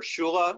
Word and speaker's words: kyla: and this is uh our shula which is spelled like kyla and that's a swedish thing you'll have to ask my sister about that because that is just how that actually pronounces um but it is